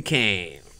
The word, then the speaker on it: Caine: Martin Urbano and Caine. Yeah. You did a good job. Yeah. Yeah. Did I mispronounce?